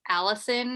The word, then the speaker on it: Allisyn: up on instagram uh it's always allison uh so my name is spelled funny it's a-l-l-i-s-y-n um so on instagram